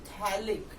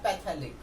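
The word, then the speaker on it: phthalic: होता है, याद रखना इसका जो प्रॉपर प्रोनाउंसिएशन है ना, इट्स अ थैलिक नॉट अ पैथेलिक। Clear, तो ये थैलिक भी हमारा जो साइलेंट है, थैलिक एनहाइड्राइड, एंड इसका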